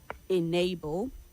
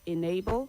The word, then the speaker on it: enable: The E in the word enable takes the letter I sound. So it is enable and not enable.